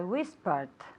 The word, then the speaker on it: whispered: And whispered with a D sound, okay? Whispered. But manteniendo el número de sílabas.